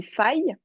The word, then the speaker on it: failles: Alors, ça se prononce des failles et c'est Oui, des quand failles.